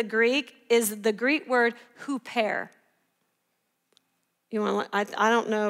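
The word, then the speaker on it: ὑπέρ: for in the greek is the greek word who pair you want i don't know if i know how to spell it i think it's h-o-o-p and it's pronounced like dash er with a little accent who pair and it literally means on behalf of or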